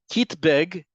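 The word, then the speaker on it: קיטבג: Kitbeg is the Hebrew pronunciation of the word kit bag, or the words kit bag.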